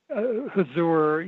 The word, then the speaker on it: Huzur: Huzur, Maharaji. I can spell that for you if you'd like.